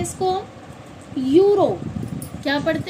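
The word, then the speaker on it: eureka: इयूरेका नहीं पढ़ा जाएगा। क्या पढ़ा जाता है? यूरेका। यानी कि इ यू जब साथ में आते हैं, इ के साथ यू आ जाता है, तो उसकी वॉइस यू निकलेगी। इयू नहीं निकलेगी।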